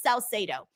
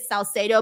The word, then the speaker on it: Salcedo: My last name is pronounced Salcedo. That's like the English pronunciation of it, Salcedo. But if you want to say it in Spanish, it's Salcedo. So I usually pronounce it the English way just because it's easier for people.